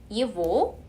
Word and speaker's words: его: 하지만 그 전에는 그냥 예고, 오고는 무조건 V 발음이 난다 라고 그냥 외워주시면 될 것 같아요. Его красивого, хорошего.